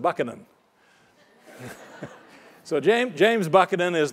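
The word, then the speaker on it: Buchanan: part of the question he actually pronounced it bucanan so Jame James buckin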